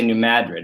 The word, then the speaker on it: New Madrid: And the one I think that's the most interesting is the Bird's Point, and you got to say New Madrid. That's how they say it down there.